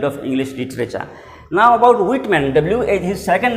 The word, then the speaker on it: Whitman: Now about Whitman, his second name Whitman. The pronunciation here is H to be silent. It is not Whitman, it is Whitman.